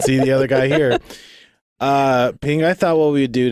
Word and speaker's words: Phing: Phing, I thought what we'd do today, and this is a suggestion, and we always take suggestions for the audience.